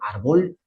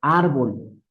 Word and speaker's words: árbol: Fíjense muy bien, termina en consonante. Debe, de acuerdo a la regla, debería estar en la última, o sea, debería ser árbol. Pero decimos árbol, como no cumple la